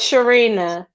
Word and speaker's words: Shireena: It's Shireena.